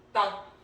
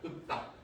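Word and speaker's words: 읊다: 얘는 리을이 탈락해요. 예, 소리가 안 납니다. 근데 피읍 받침이죠. 자, 피읍 받침은 피읍으로 소리 난다 안 난다? 안 나요. 뭘로 바뀐다? 예. 그래서 얘 먼저 배우는 거야. 그 다음에 얘 배우는 거고. 예, 그래서 읍딱 예, 이렇게 발음됩니다. 읍딱.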